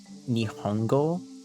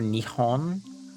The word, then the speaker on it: Nihon: that um like the the only reason people say nihongo or nihon is apparently a very very long time ago, people just started to get lazy about pronouncing nepon. like they didn't they just didn't want to pronounce the hard P sound. They just literally got lazy about pronouncing the harsh P noise. So they started to soften it from nippon to nihon.